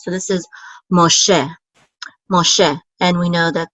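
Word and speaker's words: משה: So this is Moshe. And we know that the accent is on the second syllable because of this trope mark right here. So this is Moshe.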